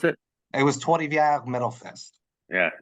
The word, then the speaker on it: Trois-Rivières: It was Trois-Rivières Metal Fest. Yeah, you have to have a little French in you to got to have the little roll in your R's there.